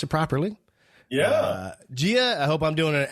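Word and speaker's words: Jiah: i had to look up uh how to pronounce it properly yeah gia i hope i'm doing an excellent job pronouncing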